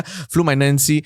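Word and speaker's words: Fluminense: is pronounced as flumen it sounds like flu my Nancy but I try my best yeah flu my Nancy uh congratulations for making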